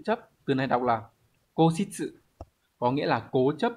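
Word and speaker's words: 固執: Từ này đọc là cố xít sự, có nghĩa là cố chấp, ngoan cố, khăng khăng khẳng định ý kiến của mình mà không chịu nhường.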